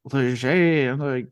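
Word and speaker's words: Léger: But when I have to like correct, and then I had told him to like Leger, I'm like, yeah, it's French, and I swear to God, every time, oh, so you're from?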